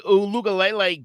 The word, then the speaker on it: Uiagalelei: Yeah, once DJ Uiagalelei got that offense figured out and down, that's how you're supposed to say it.